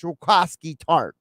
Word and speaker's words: Jaquiski Tartt: Now, as a side note to the Eagles releasing Jaquiski Tartt and the fact that I know hopefully no longer have to hear people on television mispronounce his name. It's not Jaquiski, it's Jaquiski Tartt.